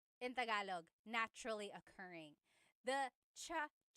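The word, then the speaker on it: tsaa: Cha in Tagalog is T like the tea that you drink. And it's spelled T S A. Cha. Cha. That's such a Tagalog spelling. I love it. There's the ts sound and then the double vowel uh pronunciation. Cha. It's so tagalog.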